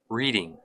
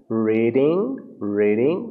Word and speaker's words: reading: Percebam que o R a ser pronunciado, pessoal, é o R que a gente usa muitas vezes, a gente chama de R retroflexo, que dobra a língua para trás, que o pessoal do interior costuma utilizar quando vai falar a palavra porta, porteira, reading, né?